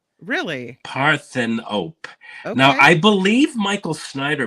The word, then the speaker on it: Parthenope: these movies yeah this next one is called paropy actually it's oh God actually it's pronounced Paran op really parthan op now I believe Michael Snider might have reviewed